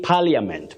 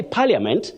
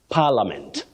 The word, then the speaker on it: Parliament: people find themselves saying Parliament but that I is silent when you say Parliament it's like saying my friend friend no that I is silent friend Parliament that is the way